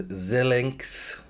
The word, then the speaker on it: Xilinx: There's Xilinx, that's how you pronounce it, in third place, which is a semiconductor company.